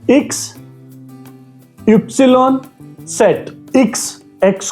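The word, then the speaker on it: Ypsilon: इ्स इप्सिलॉन सेट। इ्स एक्स को हम इ्स बोलेंगे। इप्सिलॉन वाई को इप्सिलॉन बोलेंगे और सेट।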